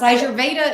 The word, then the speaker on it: Ayurveda: Ayurveda is the actual.